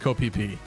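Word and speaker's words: Ko Phi Phi: There's an island called Phi Phi. It's spelled like this, but it's pronounced Koh Phi Phi.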